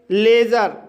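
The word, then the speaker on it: leisure: जैसे लेज़र, लेज़र शब्द में ई आई आया है लेकिन यहाँ पर ई आई का उच्चारण ए होगा, इसलिए इसे लेज़र पढ़ा जाता है।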